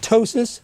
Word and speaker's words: ptosis: The other thing is called ptosis, spelled with a P, and that is a drooping of the eyelid.